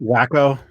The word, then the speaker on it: Waco: It's pronounced Wacko.